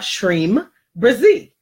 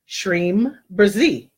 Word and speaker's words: Shreem Brzee: where why you have shreem Brizzy shreem brzee and that's how you pronounce it so the power times